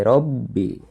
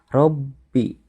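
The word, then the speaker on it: ربِّ: lu kemudian biro big.di Robby pada lafadz Robbi ya itu bertasydid maka cara pembacanya harus ditekan Robby Robby jadi seolah-olah hurufba itu ada dua yang pertama disukun sehingga huruf Roro kemudian masuk ke hurufba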